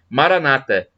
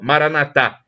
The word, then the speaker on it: Maranata: Apóstolo São Paulo e os protestantes colocam a tônica na penúltima sílaba Maranata enquanto os católicos colocam a tônica na última sílaba Maranata mas o significado é o